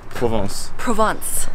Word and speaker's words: Provence: Provence.